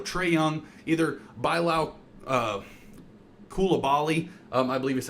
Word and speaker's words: Coulibaly: Like this upcoming season, you're probably going to have, you know, Trey Young, either Bilal uh Coulibaly, um I believe is how you say his name, or Kyshawn George.